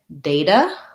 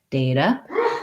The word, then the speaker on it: data: And I'll just tell you that you can either say data with the tense A and a flap T, so it sounds kind of like data, or you can say data, and that ah sound is the ah from Black Cat, so data or data. In both cases, though, I don't say that T as a T. I say it as a light D, the flap T.